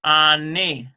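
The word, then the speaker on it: אֲנִי: and so a and I that's how you pronounce that Ani next we have something here at ah our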